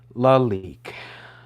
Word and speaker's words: Lalique: Lalique, I think. Please show. Yeah, fuck. Pronunciation. Lalique.